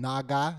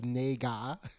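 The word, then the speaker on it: 那个: the word you know they were probably saying naga not nag naga yeah instead of nega you know so basically it's the way you were pronouncing naga and it's like dude that's a whole different word in chinese what are you talking about it's a tonal language god that was my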